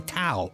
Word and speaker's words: Tao: The prince and Small Fry raced down a palace hallway on their way to see Tao, which rhymes with wow, by the way, the Imperial Wizard.